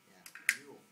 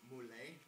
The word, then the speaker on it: Mule: M-A-R-Z-E-L, and Mule, just like, Mule. I've heard some people pronounce it Mule, but apparently he pronounced it Mule, so I believe him.